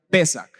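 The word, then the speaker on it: פסח: se le denomina pascua que en hebreo se pronuncia pesar significa pasar por alto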